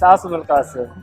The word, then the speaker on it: Asim Al Quassim: Yes, Asim Al Quassim.